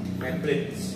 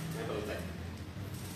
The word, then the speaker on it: Mapletech: Maplet, maple tag. Yes, maple tag.